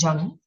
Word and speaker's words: Jung: The pronunciation is Jung.